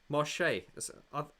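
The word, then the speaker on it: Marsheaux: Yeah, Marche. Marchex, but it's pronounced Marche, I think.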